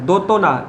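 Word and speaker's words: দ্যোতনা: ওকার ত দন্ত নয়াকার, কিন্তু এর উচ্চারণ দেখো জফলার কোনো উচ্চারণ নেই, সেই ওকারের মতোই উচ্চারণ হচ্ছে।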